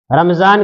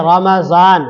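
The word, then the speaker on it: رمضان: और लोग आमतौर पर इसके उच्चारण में इसके तलफ्फुज में गलती करते हैं रमजान कहते हैं रमजान हालांकि ये लफ्ज है रमजान रमजान यह रमज से बना है जिसके माने आते हैं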